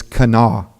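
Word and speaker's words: Kanawha: as possible so it's kanaa so if you're ever there and don't want to seem like an outsider if you ever go through Charleston and say Cano and they'll be impressed that you know how to say it so but we're working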